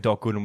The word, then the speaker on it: Gooden: Because it rhymes with wooden. Apparently, it says here that Doc Gooden.